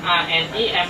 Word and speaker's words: ANIEM: Area Surabaya, tepatnya kalau kartun dari Jepang kan ANIME, anime. Nah, ini kalau bacanya ANIEM, anim. ME-nya dibalik jadi EM.